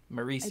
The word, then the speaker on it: Marisi: around like $19 to $20, and is it Marasi is how you say his name? Marisi.